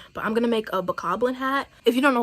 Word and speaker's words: Bokoblin: And I don't care if you do know what it is and you say Bokoblin, I'm looking at you crazy. It's Bokoblin, it's Moblin, it's Lizalfo.